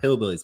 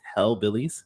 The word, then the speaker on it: Hell Billy's: billy's i always say i pronounce it it's not hillbillies but it's hell billy's okay the other one